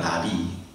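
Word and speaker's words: נביא: 나비. 나라랑 나비 말, 발음이 똑같은 나비입니다.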